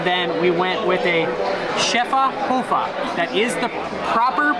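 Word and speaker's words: Schöfferhofer: try it and then we went with a chefa hoofa that is the proper pronunciation I've looked it up I've heard it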